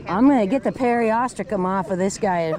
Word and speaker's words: periostracum: Or some people pronounce it periostracum. Ah. But it's periostracum as far as I was told, so.